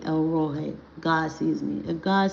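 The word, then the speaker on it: El Roi: It's E L R O I. You could say Elroy, but it's really supposed to be pronounced El Roy.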